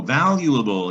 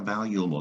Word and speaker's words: valuable: value oh valuable yeah valuable that's an adjective the root word is value value the trick to this word is the you that you says you that's a rule about you you might overlook so i like to